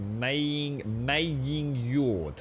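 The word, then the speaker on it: Megingjörð: Oh, so you don't pronounce the G. It's a Maying Yord.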